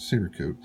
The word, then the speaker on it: Cerakote: watched another video this seracote and somebody told me that the proper pronunciation is serie code I think might have